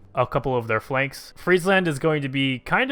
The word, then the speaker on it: Friesland: correctly I was corrected I said Friesland before which is obviously very incorrect now that I see it Friesland is apparently the correct way to say it these two are tied